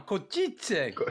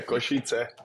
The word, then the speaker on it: Košice: Košice. Is that how you say it? Yeah, Košice. Yeah.